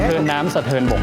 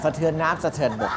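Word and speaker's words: สะเทินน้ำสะเทินบก: บก ครับ ออก เสียง สะเทิน น้ำ สะเทิน บก ครับ ถูก ต้อง ครับ หลาย คน จะ ออก เสียง สะเทิน น้ำ สะเทิน บก ไม่ มี นะ ครับ สะเทิน น้ำ สะเทิน บก เท่า นั้น นะ ครับ อ่า นะ ครับ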